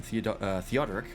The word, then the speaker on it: Theodoric: still a monarchy in theodoric that's how it's pronounced Seth the throne a